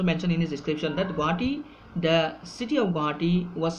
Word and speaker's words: Guwahati: So again, going for political and administrative form, Wells also described about the Guwahati, which was second influential city of the country,